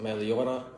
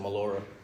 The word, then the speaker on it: Meliora: clothing brand is pronounced meliora but it's a Latin word for uh pursuit of the better but I kind of put my own twist on it Americanized it so we pronounce it Melora all right so uh